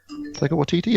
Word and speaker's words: Taika Waititi: Isn't the apparently Taika Waititi? Hang on, Taika. I can't pronounce his name now. Taika Waititi.